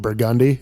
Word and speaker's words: Burgundy: so many streets they there's a street that's burgundy but they pronounce it burgundi it's